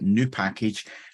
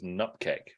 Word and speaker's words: nupkg: So I personally pronounce this word, because it is a word. It's not 5 letters. It's a word. I pronounce it as nutkeg, because in my head,